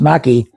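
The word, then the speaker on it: gnocchi: is spelled I mean it's pronounced naki but it's spelled with a ganaki and uh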